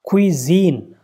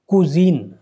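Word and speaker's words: cuisine: अब ये क्या है? यू का सिंबल है ये, कुजीन। तो अब कुजीन तो इसका प्रोनाउंसिएशन है ही नहीं, इसलिए गलत हो गया। ये या का सिंबल है क्यूजीन, तो क्यूजीन भी नहीं है, ये भी गलत हो जाएगा। क्वीजीन, ये जा है सिंपली।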